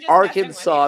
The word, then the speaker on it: Arkansas: but all right um Arkansas which is actually by the way the pronunciation so not leave you hanging too long Arkansas is how you say it's okay but listen